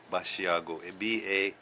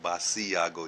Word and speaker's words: Basiago: Andrew بشیاگو، جس کا نام میں نے پہلے لیا ہے، اس کا نام اینڈرو باشیاگو، BASIAGO، باسیاگو جیسے دکھتا ہے، لیکن اس کا تلفظ ہے باشیاگو.